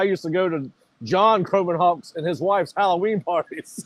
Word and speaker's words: Kromenhoek: How do you pronounce his last name, first of all? Luke Kromenhoek.